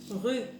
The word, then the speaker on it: rue: Rue. Rue. Bien sûr, je leur rappelle que le E ne se prononce pas à la fin du mot.